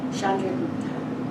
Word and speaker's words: Chandragupta: Chandragupta.